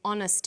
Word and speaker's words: honest: happy man but an honest man the H is not pronounced so honest sounds like